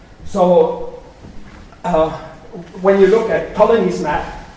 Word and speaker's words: Ptolemy: So, when you look at Ptolemy's map, Ptolemy, the P is silent, of Ireland, then you have a few names with P around which you don't expect.